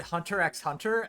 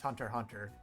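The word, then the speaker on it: Hunter × Hunter: aband then same ankober I always pronounce it Hunter x Hunter and then people like started making fun of me and telling me that's not how you pronounce it it's Hunter Hunter I was like oh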